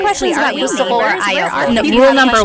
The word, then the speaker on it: ayoko: a friend if you usually it's pronounced ayoko siya. So if you want to sound a little bit more natural, put everything together.